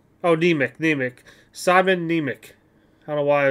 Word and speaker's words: Nemec: And this is, is it Semenik? Oh, Nemec. Simon Nemec.